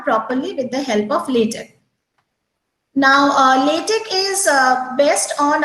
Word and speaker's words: LaTeX: Though we write it as LaTeX, but it is pronounced as LaTeX, and it is a document preparing system.